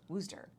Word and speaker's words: Worcester: do you say it in massachusetts worcester but we say wooster down here and worcester there because you just said it two different ways here because it was w-o-o-s-t-r rooster wooster but it's almost pronounced